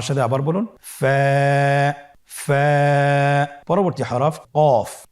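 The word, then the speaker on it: كاف: মাখরাজ স্ক্রিনে লক্ষ্য করুন এখানে আমরা মাখরাজের বা উচ্চারণের স্থান দেখতে পাচ্ছি কফের মাখরাজ হলো জিহ্বার গোড়া তার বরাবর উপরে তালুর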